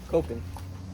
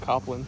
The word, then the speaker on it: Copland: Did you tell him how I pronounce his last name? Copeland. I said Copland. Copland. That's what it is.